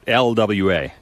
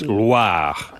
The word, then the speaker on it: Loire: It's not LWA. Oh. It's Loire.